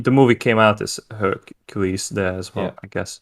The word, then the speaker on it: Hercule: The movie came out as Hercules there as well, I guess. Yeah, and the French pronounce it as Hercule.